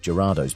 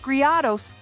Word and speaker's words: Gyarados: Pretty much everyone who's really into Pokemon has that Lake of Rage Gyarados by now. It's Gyarados, dumbass, not Griados.